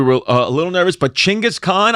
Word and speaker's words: Chingis Khan: And I also want to say that we confirmed because we were a little nervous, but Chingis Khan, I am saying it correctly and Chingis Khan is historically accurate and we are not making any kind of jokes.